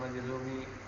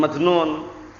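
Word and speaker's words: مجزوم: Bukan majnun. Majzum.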